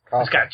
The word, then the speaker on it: Cossack: Cossack.